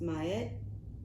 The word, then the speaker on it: Ma'at: Ma'at, pronounced Ma'at, is an ancient Egyptian deity associated with truth, harmony, and balance.